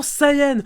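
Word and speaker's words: Saiyan: entre vos mains mais pourquoi personne en france c'est prononcer correctement sayen même pas essayé jean à la japonaise juste ces hyènes cm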